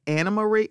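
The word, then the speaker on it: Annemarie: I think she said it's a Dutch name, and then she said it's pronounced Anna Marie, and I hope I'm getting this correct.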